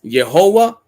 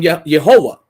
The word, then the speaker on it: Jehovah: You see Jehovah. They pronounced it as Yehovah, right?